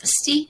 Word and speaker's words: Bastille: Okay, Bastille, Bastille. It's pronounced Bastille, and obviously right with the French.